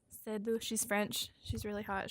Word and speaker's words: Seydoux: And then also, I don't know how to pronounce her name. It's like Leia Organa? Seydoux. Siddu. Seydoux.